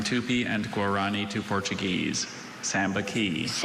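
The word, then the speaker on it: sambaqui: Sambaki. Sambaki. Are there any alternate pronunciations? No, just the one. Sambaki.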